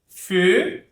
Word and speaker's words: feu: EU, OEU. Feu. Aqui é uma combinação. O som é mais fechado, né? Feu. Feu. Tá bem fechado, como se fosse esse E aqui. Feu.